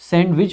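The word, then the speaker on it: sandwich: आई सी एच और ध्यान देने वाली बात है इसमें डी को पार्शियली साइलेंट रखते हैं इसको सैंडविच पढ़ते हैं हम ठीक है सैंडविच सो सैंडविच नहीं पढ़ते सैंडविच ठीक है हल्का सा साउंड आता है डी का जस्ट आगे देखेंगे इनकम्पेटिबल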